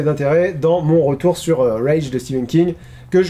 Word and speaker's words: Rage: dans mon retour sur rage de Stephen King que que je prononce à l'américaine he parce que c'est rage moi ça m'évoque une